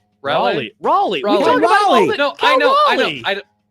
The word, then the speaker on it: Raleigh: H show Otani hit his 47th and 48th homers yesterday as the Dodgers got a muchneeded win while Cal Raleigh Raleigh Raleigh I know I know I I